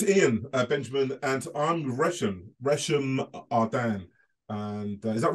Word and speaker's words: Resham Ahdan: Arden's fine, Resham Arden. Resham Ahdan. It's quite posh, actually, isn't it? Do you know what I mean? It's very posh. It's like Elizabeth Arden, but Resham Arden.